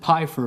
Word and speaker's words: Pfeiffer: Is the P silent, or are you pronouncing the P on Pfeiffer? I pronounce it Pfeiffer, but I'll answer to just about anything.